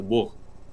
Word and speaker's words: Бог: той стороне нет нет в этом слове единственное единственное слово когда буква Г читается как г То есть когда я слушаю аудиокниги там есть слово Бог то он так и говорится Бог Прикинь русский ты знала